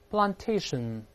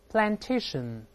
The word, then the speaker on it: plantation: 先读英式发音 plantation，这个声音在里面 plantation。再读美式发音 plantation，有字母 A 发 R 发 I 都会听到。